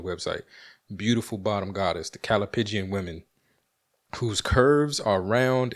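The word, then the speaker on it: callipygian: Come on, God, be with me and help me pronounce this word correctly. Calipigian.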